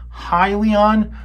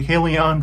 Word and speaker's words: Hyliion: pronounced a company wrong it is pronounced hi Leon when I pronounced it hey Leon through part of it